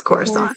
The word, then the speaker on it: Coruscant: Yeah, it's Coruscant. Coruscant. See, I'm the reader. This is why I mispronounce everything.